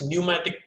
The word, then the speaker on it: pneumatic: Okay, now the next, pneumatic pump. Pneumatic pump. This is what the diagram of pneumatic pump. P is silent here.